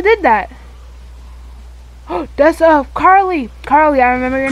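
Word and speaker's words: Carlee: that oh that's a Carly Carly I remember your name this time Carly Carly spelled like c-a-r-l-e-e you know it's a car and Lee like me coming up to Val's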